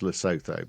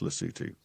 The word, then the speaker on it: Lesotho: It's e o th h o is yeah it as I say at the beginning it sounds like it's pronounced lassoto but it's pronounced lutu and apparently by looking I'm just trying